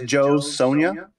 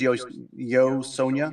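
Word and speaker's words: Jo Sonja: So I found something called, and I'm going to screw up the pronunciation because I think it's Spanish. Phonetically, it's Joe Sonia, but I think it's Yo Sonia is how you pronounce it.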